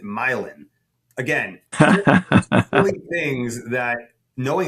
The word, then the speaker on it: Milan: Or the street name is spelled like Milan, but we pronounce it Milan.